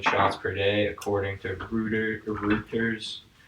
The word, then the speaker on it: Reuters: per day, according to Reuters. Reuters. I'm sorry, it sounds like Hooters. It literally sounds like It's rude. That's just how it's pronounced.